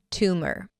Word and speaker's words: tumor: . like the number 'two'. And - an M sound that shifts directly to the R.